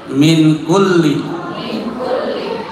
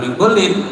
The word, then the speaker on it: min kulli: Min kulli, ya jangan min kullin ya, min kulli fajjin amiq, min kulli fajjin amiq liyashhadu manafi'a lahum.